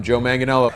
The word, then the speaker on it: Joe Manganiello: hi i'm joe manganiello i'm joe manganiello i'm joe manganiello joe manganiello the joe manganiello